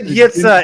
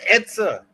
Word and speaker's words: Itza: You said Yitza. It's pronounced Itza. It's Yitza. It's Itza. There is no Y.